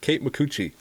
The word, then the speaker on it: Kate Micucci: And yes, I'm pronouncing her name right. Kate Micucci.